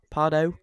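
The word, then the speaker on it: Pardoes: So you have P is it Parados? Is that how you say it? Pardau.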